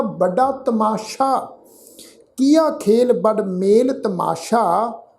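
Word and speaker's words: ਤਮਾਸ਼ਾ: सत्संगत जी ख्याल रखो, तत्ता मम्मे नूं कन्ना, सस्से नूं कन्ना। इस शब्द का उच्चारण करांगे जी तमाशा।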